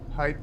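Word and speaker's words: pijp: is called the pipe now pipe is is a Dutch word it means pipe but it's spelled p i j p and it's also so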